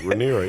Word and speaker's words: Rhaenyra: I think that I'm pronouncing all these words wrong. But no, that's right. Rhaenyra, yeah, that was right.